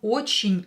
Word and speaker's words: очень: Here, ye is not stressed, so we will pronounce it as e.